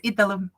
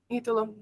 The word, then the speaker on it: Italo: Yes, it's Italo. Italo.